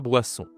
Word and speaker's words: boisson: La boisson. OK. Attention ici sur la prononciation, il y a le wa et on ici. D'accord ? Wa. En français, ça se dit WA.